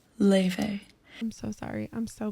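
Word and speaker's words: Laufey: Then we went to Lave. My name is pronounced Leve.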